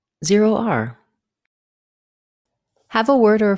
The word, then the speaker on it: ZeroR: comom presents how to pronounce z r for this word we combine zero with the letter r z r z r Zer R have a word or